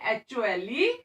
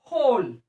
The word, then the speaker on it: whole: this whole word ना, W is silent here. जब हम इसको प्रोनाउंस करेंगे तो W की आवाज नहीं आएगी. साइलेंट मीन्स वो शांत रहेगा, उसकी आवाज नहीं आएगी. तो हम सिर्फ W लिखने में लिखेंगे, बट जब प्रोनाउंस करेंगे उसको तो हम बोलेंगे HOLE, होल.